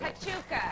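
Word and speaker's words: Huachuca: I have no idea how to pronounce it. Hatuka.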